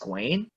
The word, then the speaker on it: Gawain: Gawain actually. Oh, it's pronounced Gawain.